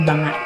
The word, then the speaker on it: banga: water and balancing the banga. The history of the Banga dance tells us the story of Filipino women's strength, resilience, and grace. Banga, pronounced banga, meaning pat, is an